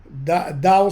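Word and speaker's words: 道: Más bien de la grafía china es Dao la pronunciación, porque sería Dao Se, no Tao Se, pero bueno, eso ya depende del gusto de cada quien.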